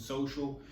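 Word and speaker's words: Sohcial: It's spelled S-O-H-C-I-A-L. Some people think social and they spell it out normal, but I've put the O in social, so that's the reason why it's called Social and it's spelled that way.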